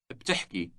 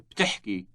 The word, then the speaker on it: بتحكي: بتحكي. بتحكي. The word has two consecutive consonants at the beginning, B and T. Say you speak again. بتحكي.